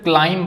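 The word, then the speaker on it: climb: क्लाइंब क्लाइम में हम सिर्फ क्लाइंब पढ़ते हैं। मं तक पढ़ते हैं लेकिन बी यहां पे भी साइलेंट है।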